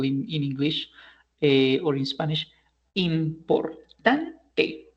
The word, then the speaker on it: importante: For example, we say, for example, in English or in Spanish, importante. So this is a grave word because it has four syllables and the accent goes in the third syllable, right?